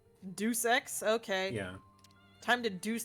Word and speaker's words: Deus Ex: the Marvel game Studio it's pronounced do six Deus Ex okay yeah time to